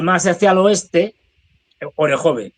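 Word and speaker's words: Orikhiv: más hacia el oeste orejve orejov depende como lo pronuncien.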